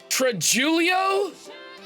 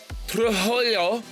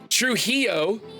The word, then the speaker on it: Trujillo: I think this is pronounced Trujillo or something like that. Like you roll your L's or R's or something. Trujillo, I think.